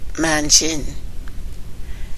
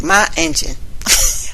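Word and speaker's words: ma'iingan: Pronounced properly, it sounds like manjin. Pronounced the way I saw it was like ma engine.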